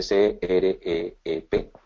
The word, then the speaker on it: creep: El aluminio tiene un fenómeno que se llama creep, se escribe C-R-E-E-P, creep.